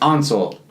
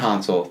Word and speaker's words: Ansel: Ansel, not Hansel. That's the Ansel Elgort. Ansel Elgort, yeah. Yeah, I always wanted to say Hansel, so that I remember not Hansel, Ansel, yeah.